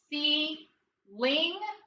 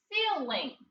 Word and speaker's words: ceiling: are we gonna divide do you think people say see link or seal lane seal Ling we're gonna divide after the consonant okay now let's take a look at the first syllable we need a yes C and now followed by a consonant sure sound and digraph ng with an accent on the first syllable what's the word see